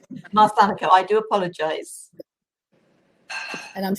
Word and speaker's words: Marsanico: Yes, and the pronunciation of my name is Marsanico. Marsanico, I do apologize.